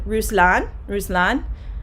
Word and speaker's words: Ruslan: So their names are actually pronounced in Russian Ruslan, and Pasha.